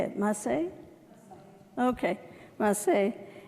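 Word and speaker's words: Masei: Okay, Maseh.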